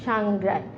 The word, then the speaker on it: সাংগ্রাই: বটার উচ্চারণ হবে না সাংগ্রাই এখানে একটা যুক্তবর্ণ আছে গয় র ফেলা আকার সাংগ্রায় উচ্চারণ হবে সাংগ্রায় তো প্রিয় শিক্ষার্থীরা আমরা